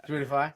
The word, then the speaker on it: Spotify: Spotify. Oh, you said that one incorrectly. Yeah. Spotify? No, I'm actually saying it correctly, if I'm being honest. My bad. It's a long O.